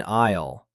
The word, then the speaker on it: aisle: Listen carefully for the silent S in aisle.